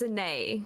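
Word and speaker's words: Anaïs: So it's spelled Anais, but the S is silent. Although you kind of said it the French way. But it's a nay.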